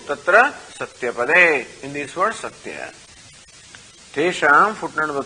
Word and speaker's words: सत्य: So tatra, footnote number 2, tatra satyapade, in this word satya. Tesham, footnote number 3, trayanam aksharanam madhye. Now that we are shown how this word satya is 3 syllables, sa, ti and yam.